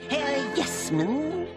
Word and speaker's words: Yes Man: Yes, man. Oh, you must be Dr. That is right. Ted Yes Man. Accent on the first syllable.